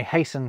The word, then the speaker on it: hasten: Although listen, I hasten to add that listen and hasten have silent T's in two.